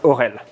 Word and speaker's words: Aurel: If you are confused about how to pronounce my name, you should think that the first two letters are actually an O. So the sound is Aurel.